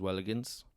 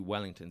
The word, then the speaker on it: Wellingtons: were always hiding his Welligans. Right, okay. Which was actually Wellingtons. He was saying it wrong.